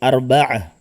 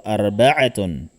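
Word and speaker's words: أربعة: At ang kanyang pangalan ay arba'ah. Arba'ah or arba'atun. Okay? Kung bibigkasin natin arba'atun kagaya ng thalatha, thalathatun, at dito arba'atun.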